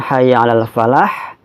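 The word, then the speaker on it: حي على الفلاح: maaf Kita harusnya dulu kalau dibaca disambung dengan Hayya Alal Falah Makkah yang salah ini dibaca ialah folady Hayya Alal Falah hati ya lebih bisa Hayya alassholah Hayya Alal Falah dibedakan Betul antara salah-salah dibedakan tuh kalau dibaca terpisah tapi kalau dibaca nyambung hanyalah folady Hayya Alal Falah begitu Kemudian untuk selanjutnya bacaan-bacaan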